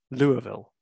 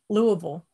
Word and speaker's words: Louisville: uh now i know how to say this louisville louisville i was close i was so close i'll